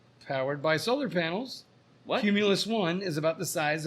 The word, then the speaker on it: Kumulus: ceo of a tunisian startup called cumulus which makes sense like clouds cumulus company has developed the device built with the k yeah spelled with a k uh that mimics the